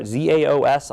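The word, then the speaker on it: XaoS: a piece of software, ZAOS. I'm assuming they're trying to be clever, and it's called Chaos, is how I've always pronounced it.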